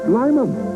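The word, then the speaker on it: Lymon: the legendary lineman pronounced Lyman as in great Lyman taste made half lemon half lime or is it half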